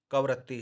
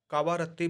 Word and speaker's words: कवरत्ती: इसकी राजधानी, जैसा कि चर्चा हो चुकी है, कवरत्ती है। बहुत से इसको लोग कावारत्ती भी उच्चारण करते हैं, वह भी सही है, कवरत्ती भी सही है, अर्थात कवरत्ती और कावारत्ती दोनों सही है।